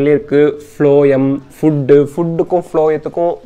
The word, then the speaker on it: phloem: xylem and phloem pathina eppovume group ah irupanga, bundle ah irupanga.